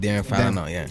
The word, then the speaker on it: Derin Falana: Oh just Derin Falana.